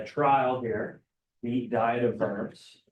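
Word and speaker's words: Worms: here the diet of vers right so again vers I know when it comes to German expression or speech and Eastern European a w sounds like a be so whenever you pronounce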